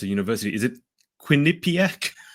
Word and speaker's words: Quinnipiac: graduate from I didn't ask her how to pronounce a university. Is it Quinnipiac? Yes, Quinnipiac.